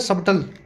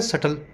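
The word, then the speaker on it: subtle: थोड़ा zoom in करता हूँ, स्पेलिंग देखो इसकी। क्या लिखा हुआ है? सबटल, सबटल, और बोला क्या जाता है? सटल। बी साइलेंट होता है इसमें।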